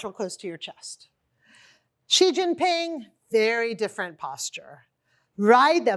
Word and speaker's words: Xi Jinping: Oftentimes they say it like a Z, like G or Zhu. It's just like S-H-E, like the female pronoun.